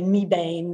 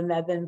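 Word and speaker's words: Mebane: the name wrong so if you say me bane they know you're not local that what you see in front of you is the meven public library and it's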